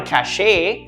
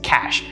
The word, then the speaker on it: cache: cachet of uh ammunition but this is absolutely wrong the correct way to pronounce it is cash like cash money cash the same pronunciation but a different word